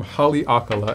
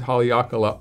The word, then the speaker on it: Haleakala: perfect for you this is the maui gym holly akala and i know how to pronounce that one so well because i've been to maui and i've actually climbed haleakala on my road bike which is quite a